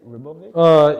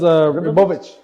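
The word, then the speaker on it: Ribovics: How you say it? Rebovic? It was Ribovich.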